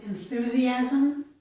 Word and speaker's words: enthusiasm: Here is one exception, the word enthusiasm. S-I does not make the sh sound in this word. Instead, the letter S makes the z sound.